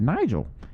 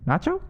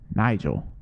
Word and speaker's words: Nigel: what my name was i said nigel he said nacho i said no nigel and he went yeah nacho and i just said